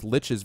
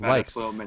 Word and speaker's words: lich: that I mentioned before is liches versus likes I grew up swearing that it was likes and I still feel like like is better but everyone's like l l l l l and they all claim that it's Lich so I was like